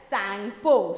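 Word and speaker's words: Tsangpo: T-S-A-N-G-P-O, where T is silent here. We should not pronounce T.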